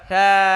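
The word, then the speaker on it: ثاء: থা। আপনি যখন জিহ্বার আগা দাঁতের আগায় লাগিয়ে উচ্চারণ করবেন, সা কখনো সা হবে না, আমি গ্যারান্টি।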